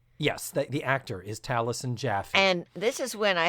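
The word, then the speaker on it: Taliesin Jaffe: far as my research tells me, it is pronounced Talison Jaffy. It is T A L I E S I N. The actor. Yes. J A F E. Yes. That the actor is Talison Jaffy.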